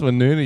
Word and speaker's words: Woonona: There's ones like in the suburb of Wollongong called Woonona, but it's spelled Winona. So people are like Winona. And like, no, that's Woonona, you fucking idiot.